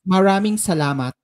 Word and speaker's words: maraming salamat: It's maraming salamat. Marami. How do you say it? Maraming salamat. Maraming salamat. Maraming salamat. Yeah, that's correct.